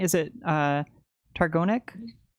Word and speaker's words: Targownik: The question is it's it's it's a challenging Slavic name, but it or it looks more challenging than it is, but um technically it's Trovnik.